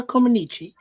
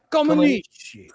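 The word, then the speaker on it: Comăneci: So Montreal was where I wanted to pronounce her name. Nadia Comaneci became the first gymnast to score a perfect 10 in the uneven bars event.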